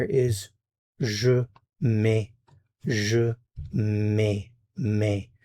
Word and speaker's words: mets: Je mets, mets. Notice the consonants here are not pronounced. Je mets.